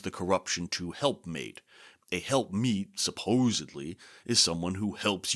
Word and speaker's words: helpmeet: Now, by the way, we now generally think of this as helpmate, just through centuries of mispronunciation and misunderstanding, really. And a helpmate we think of as a companion or servant who helps you out. But really, it's helpmeet.